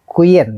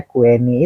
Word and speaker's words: Queenny: Tetapi menurut Harris Kui yang datang ke Vietnam merasa kasihan kepada Kuyen, ya namanya, ditulisnya Kueni, itu ternyata bacanya Kuyen.